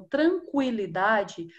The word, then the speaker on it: tranquilidade: está apontando esse sinalzinho era o dois pontinhos que eram colocados em cima do ho-oh para marcar pronúncia do o em palavras como tranquilidade usava-se o sinal de